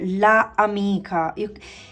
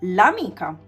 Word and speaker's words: l'amica: A is a vowel, okay? And being a vowel, you cannot repeat la amica. You see here, la amica. It's like you make an effort, you know, to pronounce this. So what we do in Italian, we just remove this A and it becomes L apostrophe. Easy, right? And you will say l'amica, which is easier than saying la amica, all right?